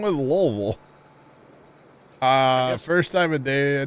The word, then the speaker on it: Louisville: in lville and uh if you didn't say it like lville people would look at you funny if you said like Louisville like people actually there